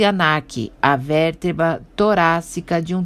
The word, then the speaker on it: Ankh: Ankh pronuncia-se Anak, a vértebra torácica de um touro, visto em corte transversal.